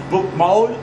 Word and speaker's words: Bokmål: on pourrait dire deux langues, mais eux disent deux variantes d'une même langue de la ville, le Bokmål, qui s'écrit Bokmal, mais qui se prononce Bokmål, et le Nyrs.